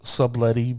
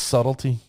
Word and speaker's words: Subtlety: the next card i call this subletty because i it's spelled subletti but i know it's subtlety you can laugh you